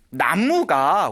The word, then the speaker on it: 나무: 다 아시는 얘길 거예요 나무가 원래 우리가 발음으로는 쓰기는 난무 라고 쓰지만 읽기 로는 나무 라고 했잖아요 이 나무가 저희 인도에서